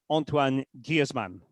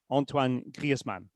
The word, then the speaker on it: Griezmann: So his name is Antoan Gizman. Antoan Griezmann. All right. And the the reason why it's Griezmann is there's a there's a little e there after the I Guzman is because um